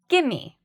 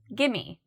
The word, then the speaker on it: gimme: So give me is the regular form, but in conversation, we might say, gimme, gimme.